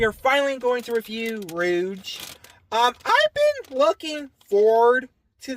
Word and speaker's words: Rouge: To be honest, I thought her name was Rogue, like Rogue from X-Men, but no, it's pronounced Rouge.